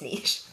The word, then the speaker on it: niche: If you have no idea what I'm talking about, if you're American, you pronounce it niche, that's wrong. It's niche.